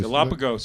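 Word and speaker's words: Galápagos: Galapagos.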